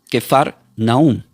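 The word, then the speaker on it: כפר נחום: Capernaún, esta palabra del hebreo se pronuncia como quefar naún.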